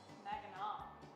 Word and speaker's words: Mackinac: Mackinac. Mackinac. That's how it's pronounced.